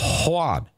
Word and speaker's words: Juan: And this dude by the name of Juan, and that's how he pronounces it, Juan, he shot me.